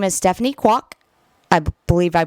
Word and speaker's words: Kwok: a new vice president, her name is Stephanie Kwok. I believe I pronounced that correctly.